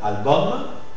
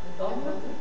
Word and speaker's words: album: ouvert aussi la lettre U suivi de M final dans ce cas c'est un peu spécial le U normalement ce sont des mots d'origine et des mots d'origine latine et on prononce homme par exemple album album radium radium référendum référendendum maximum maximum minimum d'accord on prononce om aussi quand on a deux